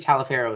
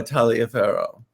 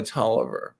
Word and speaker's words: Taliaferro: I do go by Taliaferro but in the United States I go by Toliver so okay it rhymes with Oliver and it's a Virginia